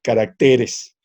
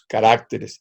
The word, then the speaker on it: caracteres: recuerda qué carácter singular se dice carácter y en plural caracteres porque dice que decimos caracteres y no es caracteres tiene razón y qué